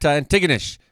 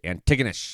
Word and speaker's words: Antigonish: about like uh at Antigonish apparently that's how you say it tracky Antigonish it's not Antigonish everybody was been wondering